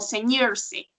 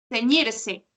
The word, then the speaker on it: ceñirse: Por ejemplo, yo sé que esta palabra es nueva para ti, pero la palabra ceñirse también se pronuncia con R y tú dijiste como ceñirse. Ajá, como si fuera doble R.